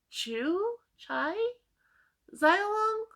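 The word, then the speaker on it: Qiu Xiaolong: of Two Cities by so Q's are pronounced CH so Chu chai xylon um I looked it out before and I keep just every time I see it I can't because the way it's pronounced doesn't match the way it looks so anyway um by this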